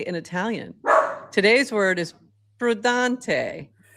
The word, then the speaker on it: prudente: Today's word is prudente.